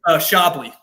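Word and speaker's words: Shabliy: I think it'll be Shabili. How do you say it? Shabli. Shabli, thank you.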